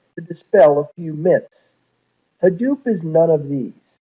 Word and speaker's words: Hadoop: five slides ago he started the open source Hadoop project when it came time to name the